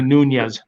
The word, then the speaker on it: Nunes: So nonetheless, it's either Nunes, is it not oldness, but Nunes, or Nunes. There it is.